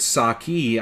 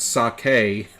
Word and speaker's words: sake: it wrong you meant saki I said um no it's pronounced sake like that's how they pronounce it over in Japan oh well over here